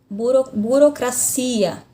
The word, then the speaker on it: burocracia: Burocracia, na língua portuguesa. Na língua espanhola, burocracia. Burocracia, então já muda aqui a sílaba tônica.